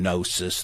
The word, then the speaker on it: gnosis: The knowledge is derived from gnosis, the root of Gnostic. The G is silent.